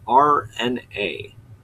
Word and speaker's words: Urania: It's RNA. Like you're spelling out the letters RNA.